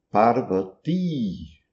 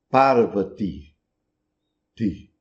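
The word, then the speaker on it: पार्वती: E essa é a pronúncia correta em sânscrito, parvati, enquanto que em rinde vai ser pronunciado parv ti no final, um i curto, fraco.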